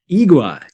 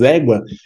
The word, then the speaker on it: égua: It looks like agua, but it's igua. Igua, is that Igua, right? igua, man, this Igua. word is very funny because, for example, igua, égua, the correct is égua, is, for Egua.